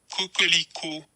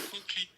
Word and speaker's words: coquelicot: So before we go any further, y'all, let me let you hear the pronunciation of the color of this bag so you can see how hard it is. Coquelicot. Bleuette de coquelicot.